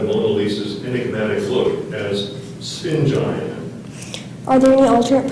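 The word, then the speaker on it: sphingine: In his lecture, the art historian described the Mona Lisa's enigmatic look as spingine. Are there any alternate pronunciations? There's one, spingen.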